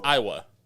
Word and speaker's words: Aiwa: Yeah, it's Iowa.